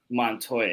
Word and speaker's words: Montoya: How do you pronounce his last name? Montoya. Montoya, yeah.